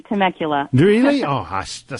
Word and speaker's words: Temecula: you say that Julie how do you have you you said it perfectly Temecula do you know hasta